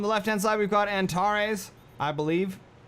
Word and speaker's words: Antares: On the left-hand side, we've got Antares, I believe. Or you could say Antares, I guess. Or Antares. Depends on where you put the emphasis on the syllable.